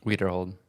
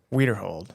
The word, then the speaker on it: Widerhold: how do you say your last name weer hold weer hold yeah okay so tell a little tell them